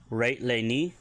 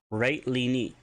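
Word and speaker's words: ret'lini: If you want to tell someone just in case, rate lini, and it's spelled R-E-T, beten, or apostrophe, L-I-N-I, rate lini.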